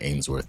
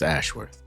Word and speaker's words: Ashworth: By the way, I've been calling this guy Ainsworth the entire time for some reason. The first time I heard him say his name, I thought he said Ainsworth, but anyway, it's Ashworth.